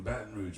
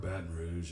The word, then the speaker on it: Baton Rouge: There's no T in Baton Rouge.